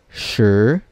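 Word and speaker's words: 十: also don't read the letter i from number 10 we don't read it so we just read the letter s and h and then second tone so number 10 is read as sure sure sure and number zero we'll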